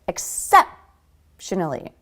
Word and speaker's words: exceptionally: Exceptionally. Except. A lot of second syllable stress.